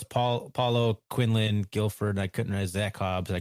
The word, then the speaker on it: Guilford: Paulo Zeke quinland Guilford or is it Gilford I'm sorry how do you pronounce it gulford gulford okay and then Zack Hobbs